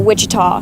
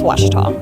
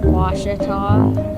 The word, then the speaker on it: Ouachita: Back in Texas, everybody pronounces it Wichita, but really, it's Ouachita. Ouachita. Ouachita. How would you pronounce it? Ouachita.